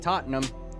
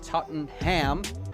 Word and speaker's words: Tottenham: As a fat American, why would you not emphasize the ham? I would like to go to Tottenham and order a Tottenham.